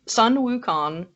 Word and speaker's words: Sun Wukong: talking about today we are talking about sun sun wukong the monkey king good job he said it